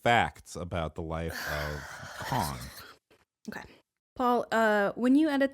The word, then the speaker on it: Khan: Shaka Khan.